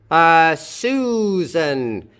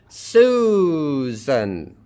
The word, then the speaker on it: Susan: Stress on the first syllable. Susan.